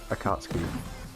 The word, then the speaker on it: Akatsuki: How do you pronounce it? The Akatsuki.